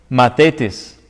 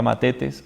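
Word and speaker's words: μαθητής: griego es la palabra mates mate test se puede pronunciar como una th o como una de mates mates o más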